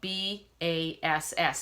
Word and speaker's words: bass: clef is actually spelled b-a-s-s it sounds as if it should be spelled b-a-s-e but it's spelt bass and that comes from the